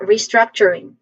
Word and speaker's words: restructuring: So pronunciation wise first syllable is a re. is has this has a short e sound. So re re struck the second syllable struck this part has the main stress there's a short vowel sound here.